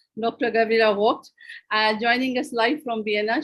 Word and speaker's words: Voigt: Gabriela Voigt, as we were trying to practice her pronunciation of her family name, Dr. Gabriela Voigt, joining us live from Vienna.